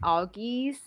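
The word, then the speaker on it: Algiz: for now it's like auggies I think that's how I pronounce it and it's like the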